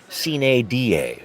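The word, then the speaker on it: sine die: And if you're wondering, folks, the traditional Latin pronunciation would be sin da without a day, signaling the end of the session.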